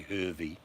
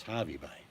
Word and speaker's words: Hervey Bay: It's funny, people that don't know how to say it will say Hervey. Have you been to Hervey Bay? No, no such place. It's Harvey Bay.